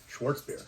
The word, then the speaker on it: Schwarzbier: And that is German style Schwarzbier. Schwarzbier. Aha! I knew somebody would pronounce it for me.